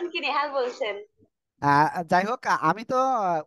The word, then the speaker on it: ت: প্রথমে যে অক্ষর শিখেছিলাম সে অক্ষর ছিল এই তিনটি অক্ষর আপনারা এখন স্ক্রিনে কিন্তু দেখতে পাচ্ছেন ঠিক